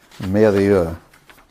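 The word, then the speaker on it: Mérieux: Merieux. Yeah. I don't speak French, I apologize. And can you pronounce that? Merieux.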